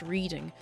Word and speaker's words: Reading: From what I understand, it's pronounced reading. I'm gonna say this is like 700k.